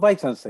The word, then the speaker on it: Weissensen: Jesús Weissensen. Jesús, así es que se pronuncia.